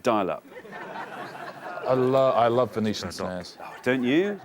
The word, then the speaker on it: Venetian Snares: sort of internet dialup I love I love venician snares don't you not like Venetian snares love them is it Venetian snares have I said it right yes yeah I